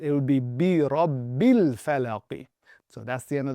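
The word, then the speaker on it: بِرَبِّ الْفَلَقِ: when we reading this, we read this as bi rabbil falaqi. So, we're basically eliminating this. So, that tadpole basically takes that alif and swims away with it. So, in terms of how we pronounce it, we're not pronouncing it. If it was by itself, right? So, if this word was just by itself as such, then essentially you would say al falaqi. But, because we're connecting it, it would be bi rabbil falaqi.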